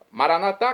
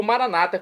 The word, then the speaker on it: Maranatá: Maranatá com a tônica na última sílaba, como dizemos nós católicos, ou Maranata, como dizem nossos irmãos das comunidades evangélicas ou protestantes.